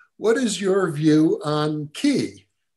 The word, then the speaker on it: ki: is your view on key ah key for those who don't know it or chi for the more chinese pronunciation of it is some kind of